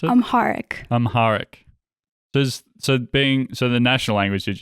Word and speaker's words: Amharic: Amharic, is that how you pronounce it? Amharic.